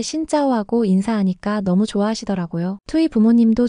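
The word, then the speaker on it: Xin chào: 신 자오 아니에요. 짜예요. 신짜오.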